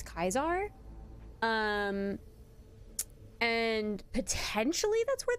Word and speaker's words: Caesar: um the understanding is that Julius Caesar was more likely pronounced Julius kaisar um and potentially that's